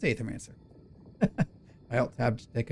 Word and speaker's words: Aethermancer: Am I going to say it right? Etherman. Is it Aetherman? No, that's not right. What are you? It is. It's aethermancer.